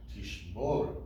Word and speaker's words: tishmoru: Notice that we have, just before we can start, that the segol is on the second to last syllable. Tishmoru, right?